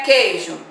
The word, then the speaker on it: queijo: Queijo eu não pronuncio a letra U, então tem dígrafo.